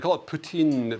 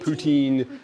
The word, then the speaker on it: poutine: So they call it poutine. They don't call it poutine. We call it poutine because we don't know how to say it properly, but it's actually poutine is how they say it.